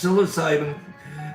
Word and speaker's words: psilocybin: Um, they are the silent P ins psilocybin.